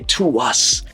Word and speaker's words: TWS: fans as well, because a lot of them were calling them, I think, TWS, like the literal initials. And in the Koreans say To Us, because that's how their name is spelled in Hangul.